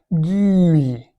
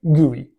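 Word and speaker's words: GUI: G U I, gooey, like slime, icky, sticky stuff. Okay, maybe not, but it is pronounced that way, gooey.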